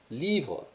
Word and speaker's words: livres: Il y a quelquefois des terminaisons qui se prononcent différemment, mais en général, le S à la fin ne se prononce pas. Donc, livre, livre.